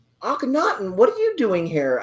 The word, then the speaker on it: Akhenaten: Akhenaten.